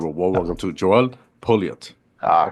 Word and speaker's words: Pouliot: Ladies and gentlemen, give a warm welcome to Joel Pouliot. I All pronounce it right, right?